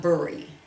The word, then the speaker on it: bury: and if you see, this word is not bury, okay, it's bury is how we pronounce it.